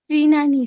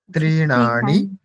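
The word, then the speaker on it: तृणानि: গৃহং গচ্ছতি শ্রেণী মানে ত্রিনানি স্যার কি মানে কি মানে আমি আগাছা পরিষ্কার করে তারপর ঘরে গেলাম আচ্ছা তৃণানি ঠিক উচ্চারণটা স্পষ্ট করতে হবে তৃণানি তৃণানি শালিত পরিষ্কার করে মানে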